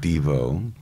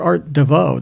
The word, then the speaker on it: Devo: be like Art Nouveau art Devo well we were art DeVoe that's how we used to pronounce it and then I wrote this song called chocolate homo where it ended up accenting the second syllable and that changed it because then everybody said Devo instead of did you